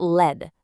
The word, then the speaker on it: lead: You've got a dog's lead or the lead for a battery. So it's one pronunciation, but it's already doing a couple of different jobs. Okay, now let's flip the script completely. We've got lead, pronounced lead.